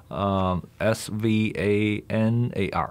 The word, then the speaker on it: Svanar: Okay, so it's how do you spell it? S-V-A-N-A-R.